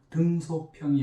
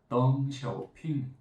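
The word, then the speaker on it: 邓小平: 이런 미국 이름만이 아니라 가령 중국 이름이라면 덩샤오핑, 리샤오롱 이런 이름은 그 자국어의 발음으로 해석해야 됩니다. 등소평이 아니고 덩샤오핑 이런 식으로 이렇게 해서 성과 이름을 분석하면 기가 막히게 나와요.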